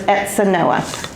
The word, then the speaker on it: Etzanoa: and by the way the Z is pronounced an S so it's exa Noah as you can see